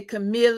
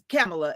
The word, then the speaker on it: Kamala: Well, my name's Kamala, and so everybody would say Camille. It's pronounced just like the vice president, Kamala, and they would always mess my name up.